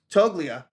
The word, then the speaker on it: Toglia: it would be uh toglia I believe that I might be pronouncing that wrong uh the G might be silent either way it's his